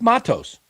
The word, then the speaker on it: Matos: It's Matos. Of course, it's Matos, but these people that have never speaking Spanish before, they just mispronounce their name.